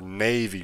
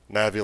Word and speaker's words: Navi: So is your name Navi or Navy? Like, have I been saying it wrong this whole time? Navi like navigator.